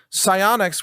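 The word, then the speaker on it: SiOnyx: vision and it's actually a really good consideration psionics which is spelled s-i-o-n-y-x these low-light cameras one of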